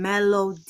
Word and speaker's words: Melo: none of those people I am Melo like music like The Melody of You Know The